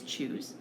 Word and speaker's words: nCr: NCR button for combinations or shootin we pronounce that is choose and then we'll hit